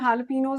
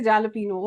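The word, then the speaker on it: jalapeño: Whenever you go out, you want some jalapenos on your pizza or salad or something else, don't say jalapeno. Okay? It's jalapeno.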